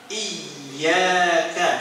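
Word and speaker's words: إِيَّاكَ: sahih itu yang ini iyaka coba iyaka ditambah Kalau tasdidnya dibuang nanti maknanya akan berubah ya Daus Syamsi cahaya mataari ya ya maka ini fatal nanti nabudu iaka Nah nanti maknanya jadi fatal ya maka hartakan meskipun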